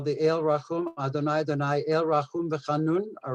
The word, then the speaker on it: Adonai: basically what they did even though in the torah it is written as hey we pronounce it adonai there is another instance